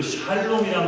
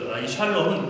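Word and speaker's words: שלום: 하겠습니다 여러분 혹시 그 샬롬이란 말 많이들어요 샬롬 예 옆 샬롬 라 뜻이잖아요 샬롬 하고 이스라 백성은 진짜로 인사를 합니다 한번 나눠보세요 예 발음을 무 세게 하면 이상한 말이입니다 좀 부드럽게 하면 인사 하는요 평안 평안이나 평화라고 우리가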